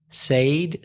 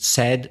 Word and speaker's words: said: said what do you say I used to pronounce it say Sade Sade but it isn't it said said as you say as you just have